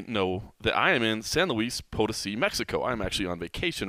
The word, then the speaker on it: San Luis Potosi: San Luis Potosi.